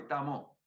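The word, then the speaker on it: 達摩: La D es como una T suave, Tamo.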